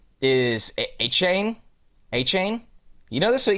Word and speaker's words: Etienne: His the real pronunciation, I believe it's the Cajun way, is A-Chain. A-Chain? You know this with ETN?